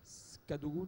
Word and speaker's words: Cadogo: rivages noir en 2009 cadogo tu prononces comme ça oui cadeaux à gogo voilà donc au pluriel